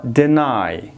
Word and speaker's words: deny: لغت بعدی ما deny. Deny. به یاد داشته باشین اینه دینی یا دینای. تلفظ نکنین. Deny. Deny. There is a short vowel sound after d.